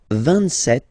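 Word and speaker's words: sept: 27. Remember set, it was this P disappear. You don't pronounce it.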